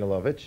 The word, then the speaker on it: Lovich: Let me talk to you personally about Lene Lovich. A lot of people here pronounce it Lena, by the way, but Lena is the proper pronunciation, eh?